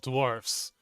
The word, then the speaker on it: dwarf: Yes, the stalwart bearded warriors of the depths are called dwarfs. Pronounce it like dwarf.